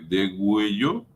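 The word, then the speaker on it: degüello: mueren por de cuello así se escribe de huello con dos puntitos sobre la u para que suene pero los animales mueren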